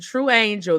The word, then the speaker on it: Truanjl: in um the description true Angel that's how you say it so when you see it you going to be like how you say this it's true Angel gift Cod she does